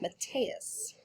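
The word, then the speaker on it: Metias: kind of person is matthias i know that does not look like matthias it might look like matthias or matthias but i looked it up and marie lou the author says it should be pronounced mathias how would you feel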